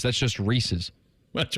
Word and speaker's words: Reese's: I think I'm a Pieces guy. Me too. I say Pieces, not intentionally. Like, it literally is Reese, which is just the word Reese, like Reese Witherspoon, apostrophe S. That's just Reese's.